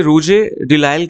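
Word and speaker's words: Rouget de Lisle: ठीक है, तो आपको इसकी थोड़ा प्रोनाउंसिएशन मुश्किल है, इसे ला मार्सियस कहते हैं, इसे रूजे डिलाइल कहते हैं।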